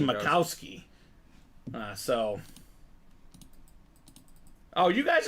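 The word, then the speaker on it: Majkowski: wrong now Don macowski his name gets butchered a lot too because it looks like match Kowski but it's actually macowski uh so oh you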